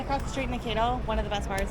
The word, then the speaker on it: Mankato: Pronounce this place's name. Is it Mankato? Mankato.